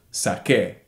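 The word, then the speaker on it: saqué: e with an accent sac a notice that doesn't change the pronunciation we don't pronounce the U the U is just in there it's a placeholder between the Q and the e in order to keep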